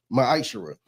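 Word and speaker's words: מעשר: chapter 3 verse 8-10 means 10th in Hebrew and is pronounced maisher 10% of every penny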